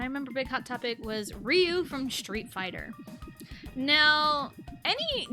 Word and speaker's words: Ryu: Ryu, but those letters, RYU, is also a Korean syllable, and it's just Ryu. It's like it's just one syllable, not two.